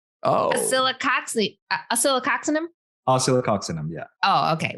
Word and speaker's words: Oscillococcinum: It's oscillococcinum. Oh. Oscillococcinum? Oscillococcinum, yeah. Oh, okay. We get the cox in there.